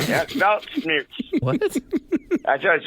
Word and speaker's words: Weltschmerz: Belt smears. Yeah, belt smears.